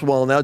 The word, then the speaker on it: Wallnau: app put in Lance wall now w-a-l-l-n-a-u pronounced wall now like build the wall now and you put you